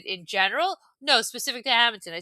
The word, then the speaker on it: Hammonton: I was not happy with Hammonton. A- Hammonton. As Hammonton. soon as she did not pronounce it HAMINT''N, Hamilton, you should have hung up the phone.